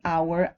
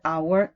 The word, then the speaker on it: hour: we use n an hour an honor so if the H is not silent a history a home if the H is silent an hour and honor this is what you